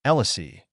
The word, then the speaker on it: Elisi: Elisi, pronounced. Like sit without the T, grandmother.